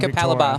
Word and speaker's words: Capalaba: pronunciation Yeah, of it being Capalaba.